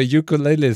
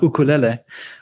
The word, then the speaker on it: ukulele: from hawaii uh and you should say ukulele not ukulele actually if you pronounce it correctly in hawaiian spelling it even has an apostrophe before the first you so it's apostrophe yeah